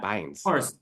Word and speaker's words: Bynes: And now that you say Bynes, that, that's how you say her name, yeah, Bynes.